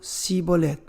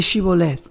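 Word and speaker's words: שיבולת: Aparentemente fue pronunciada de manera diferente por los judíos galileos que por los judíos de Judá y se convirtió en una palabra clave para diferenciar a unos de los otros. Leemos en Jueces 12:6, cuando querían saber si uno estaba mintiendo sobre sus orígenes, entonces le decían: ahora pues, di Shibolet. Y él decía: Sibolet, porque no podían pronunciarlo correctamente.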